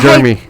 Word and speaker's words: Jeremy: Jeremy. I'm like, it's Jeremy. There's 2 E's.